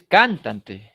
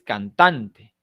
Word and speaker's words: cantante: Pero en el caso de la palabra cantante, no es cantante, ni cantante, es cantante. Tiene la mayor fuerza de voz en tan, ¿de acuerdo?